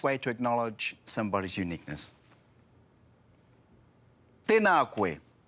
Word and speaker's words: tēnā: Tēnā koe. Notice that there's a macron on the a and a of the word tēnā. Remember to make those vowels nice and long.